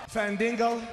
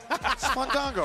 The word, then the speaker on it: Fandango: from mispronouncing names. Mr. Fac and McDonald. It can be called McDonald's. Fandingo. Fandango.